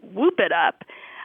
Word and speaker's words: whoop it up: Yeah, they're related for sure, because some people do pronounce the H and hoop, like whooping cough, and some people don't, and so they're actually the same. They're the same expression. Hoop it up and whoop it up are the same.